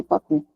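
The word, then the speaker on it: Papus: É papo, se escreve papos, mas se lê papi, né?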